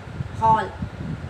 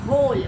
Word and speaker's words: hole: Okay, so यू कैन नॉट से it like हॉल, इट इज़ होल.